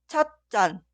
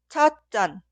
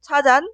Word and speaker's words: 찻잔: Y la palabra se pronuncia 찻잔 o 찻잔, ya que la palabra posterior 잔 suena 짠 en el sonido forzado. Aquí debe agregar 사이시옷. Por eso, pronunciar y escribir 차잔 son incorrectos.